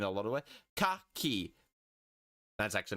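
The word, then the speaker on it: き: And this is ki, pronounced ki, as in a key. Key, or key, but you can't... Yeah, so key as in key, but you sort of want to short down the E sound at the end of key.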